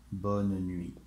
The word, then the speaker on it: bonne nuit: And once again, you do not pronounce the T. Not bonne nuit, it's bonne nuit. Bonne nuit, no. Bonne nuit, bonne nuit. You have to go fast, like bonne nuit.